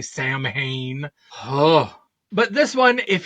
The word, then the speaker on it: Samhain: these kids on Halloween, on Samhain, is I believe how you say it, although I think they say Samhain.